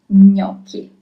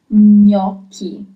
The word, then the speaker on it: gnocchi: our Italian kitchen is gnocchi. Gnocchi. That's the way you pronounce it. Gnocchi. Also, you have CH. Remember that CH is always read as K. It's never ch in Italian, but always K.